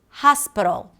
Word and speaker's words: hospital: Now, if I were to read it phonetically, I would probably say something like hospital, hospital. And maybe this is how you're pronouncing it. And by the way, if you say hospital, people are probably going to still understand you.